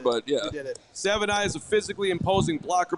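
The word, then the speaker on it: Savaiinaea: in the chat says Savanaya. We got it. Savanaya. We got it. Very easy. Look at that. I'm going to trust Dane Brugler, but yeah. You did it. Savanaya is a physically imposing blocker, both alert and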